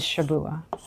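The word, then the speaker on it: שבוע: Now, the word weeks in Hebrew is Shabua. And a Shabua in Hebrew just means 7.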